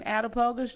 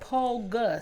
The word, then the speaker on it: Attapulgus: September 26th in Attapogus, Georgia.